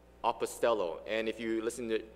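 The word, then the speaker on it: ἀποστέλλω: word is pronounced as apostello apostello and if you listen to this word carefully then you should remember that this word sounds very close to the word apostles and that's because they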